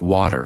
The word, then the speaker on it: water: Take a simple word like water, for example. In American English, it is often pronounced like wad or wer, where the t sounds almost like a quick d.